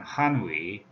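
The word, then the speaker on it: 汉语: 예, 언어라고 할 때는 한위, 예, 이렇게 한어라고 표현을 합니다. 이게 이제 간체화된 글자죠. 예, 그래서 광범위하게 한자라고 할 때는 한쯔, 예, 번체자, 간체자를 포함하지만 중국어, 표준 중국어는 한위, 예, 이렇게 발음을 합니다.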